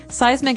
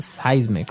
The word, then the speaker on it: seismic: And so seismic activity refers to earthquakes and volcanoes, things that are changing under the ground that will affect us. Okay. So that's seismic activity. It's pronounced seismic, right?